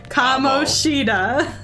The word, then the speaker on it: Kamoshida: Only for my horrible pronunciation of names. So say it with me now. Kamoshida.